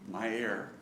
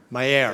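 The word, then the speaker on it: Meier: Mayer. Mayer. As in breathing my air, so to speak.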